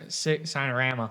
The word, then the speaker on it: Signorama: And I said, okay, spell S-I-G-N. Or what does S-I-G-N spell? And he goes, sign.